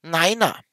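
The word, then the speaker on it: niner: Genauso wird nein aufgrund der Ähnlichkeit mit dem deutschen nein nicht wie gewöhnlich im Englischen ausgesprochen, sondern als neiner. Man spricht hier also Neiner. Das sind so die Besonderheiten der Zahlen und die Null wird als Zero ausgesprochen.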